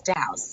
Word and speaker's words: Dowse: And I always say it's Douse. It's just like house but with a D.